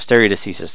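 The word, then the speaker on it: stare decisis: federal and state level is a concept called stereo diseases which you can see here that's how to pronounce that stereo deceases you'll find alternate pronunciations but that seems to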